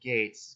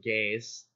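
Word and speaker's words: Geiz: this crazy dude called gates both gei Z because that's how you spell gates yes that's how it's pronounced in Japanese or has some of the fandom has called him gays because of how it's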